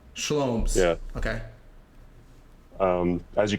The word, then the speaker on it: SHL0MS: uh my name is schomes rhymes with homes um tell it's all good you didn't spell it with a c schomes yeah okay um as